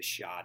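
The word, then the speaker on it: Xia: civilization that would become the Shah dynasty spelled as an X I am pronouncing Shah right and so this isn't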